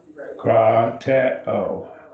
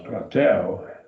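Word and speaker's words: κρατέω: Krateo. 3 syllables. Krateo. Krateo.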